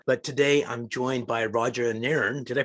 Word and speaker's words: Roger Nairn: But today I'm joined by Roger Nairn. Did I pronounce it right?